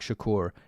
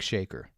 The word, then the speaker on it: Shakur: old white people that pronounce the name Tupac Shakur as Tupac shaker the family has reached